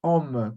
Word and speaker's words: hommes: Porque na última consoante a gente não pronuncia. Então, homme pode ser tanto homem, como pode ser homme, com S no final,